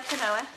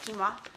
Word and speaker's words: quinoa: We didn't know how to pronounce it either at first. We called it quinoa. Yeah, it's quinoa.